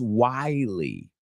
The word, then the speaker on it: wily: The first word is wily. Wily. So it sounds like the word while. I'll talk to you in a little while, but we add the E sound at the end.